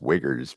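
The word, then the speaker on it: Uyghurs: Um I think it's pronounced wiggers, but that's too close.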